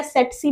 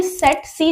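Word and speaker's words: tsetse: ये सीसी या सेट सी बोल सकते हो। टी साइलेंट होता है। देन ये सेट एंड सी। तो ये सेट सी जो फ्लाई होती है यानी छोटी सी मक्खी सी होती है।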